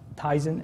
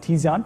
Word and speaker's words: Tizen: here okay so tyen this is always the biggest pronunciation is tyen is Eddie correctly pointed out and it's not um teon but it it is something that